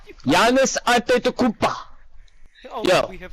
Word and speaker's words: Antetokounmpo: since you're so smart, Furby, can you please pronounce Giannis's name for me correctly? Giannis Antetokounmpo. Is that so? You make fun of me for saying Giannis Antetokounmpo, and you say Giannis Antetokounmpo, which is wrong. Greek. Antetokounmpo.